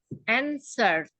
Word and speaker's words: answer: Answer. Jadi W-nya juga nggak dibaca.